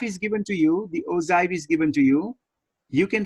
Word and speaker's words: ogive: Because I was curious, and they sort of say ojai. Ozai? With a, like, almost like with a J, OJ. So let me play the Google pronunciation. Okay, please go for that. One more time, please. Ogive. Okay. Ojai. Okay, got it. Thank you. Not G, but kind of Z, right? Kind of a J.